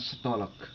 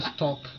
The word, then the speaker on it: stalk: Berarti sebutan stok itu tulisannya stolek. Bukan. Itu stalk, ada stalking. Nah, itu yang sedang sedang tren itu anak-anak. Lu stalking gua ya. Kalau itu ngintip. Stalk, walk, chalk, talk.